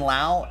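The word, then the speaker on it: Lowe: this break Nathanael low so it's Brandon Lau and Nate lows that's how they pronounce their last names both on the Rays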